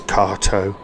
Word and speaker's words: Kato: Whilst I was on the stand of what we all thought was Kato, I asked them how you pronounce it and it is KTO.